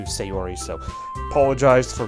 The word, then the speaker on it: Sayori: committed I know it's I know it's pronounced soft you'll be um to the hiragana but my voice kind of being more anglicized right it kind of uh flaps it to sayori so apologize for not